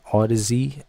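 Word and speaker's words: Audeze: I think all the Z. A U D E Z E is how I think you're supposed to pronounce it.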